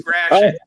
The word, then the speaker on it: Gratiot: It's not like a croissant. It's Gratiot.